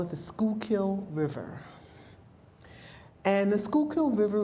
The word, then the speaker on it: Schuylkill: the word might not necessarily understand how to pronounce it in Philadelphia we call it the Schuylkill River and the Schuylkill River runs from northeast